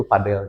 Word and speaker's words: padel: penyebutan ya pronounce ya antara padel atau padle gitu. Nah sebenarnya kalau misalkan padel itu yang mengacu pada lapangannya. Betul nama olahraganya padel disebutnya.